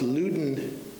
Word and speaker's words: Loudon: Daisy Dopp and Loudon, even though his name is spelled as Loudon, it's Loudon Young.